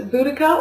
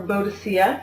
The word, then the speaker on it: Boudicca: have first off uh this is boudicca or bodacia depending on how you want to pronounce that um by amanda scott